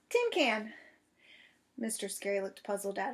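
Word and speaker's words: cinquain: Mae jumped right up Tim can she shouted it's pronounced Tim can she grand indle she grinned real delighted I know it's Tim can because you told me this morning remember I was the first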